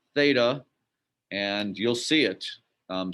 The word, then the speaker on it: theta: you've been exposed to it again it's it's pronounced theta and you'll see it um so now that